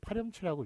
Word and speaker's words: 파렴치: 파렴치, 파 플러스 염치인데 이것도 파렴치라고 읽으니까 파렴치라고 씁니다.